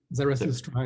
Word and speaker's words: Zarathustra: How do you pronounce this thing? Zarathustra, yes.